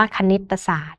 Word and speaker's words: คณิตศาสตร์: ระหว่าง คำ นะ คะ อย่าง เช่น คำ ว่า คณิตศาสตร์ ซึ่ง มา จาก คำ ว่า คณิต บวก กับ ศาสตร์ นะ คะ หรือ อย่าง คำ ว่า ธรรมชาติ เนี่ย นะ คะ มา จาก ธรรม บวก กับ ชาติ นะ คะ เวลา เรา อ่าน ออก เสียง ก็ จะ มี เสียง อะ ที่ เชื่อม เสียง อยู่ ระหว่าง คำ ทั้ง 2 คำ นะ คะ เหล่า นี้